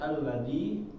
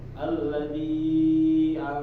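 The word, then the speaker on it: الذي: Nah, habis itu kita lihat alladzi ya. Maka jangan sampai ketika kita mengucapkan huruf A ini kita mengucapkannya enggak jelas ya. Suara ini langsung masuk. Contohnya alladzi sedangkan huruf A ini termasuk dari huruf syiddah,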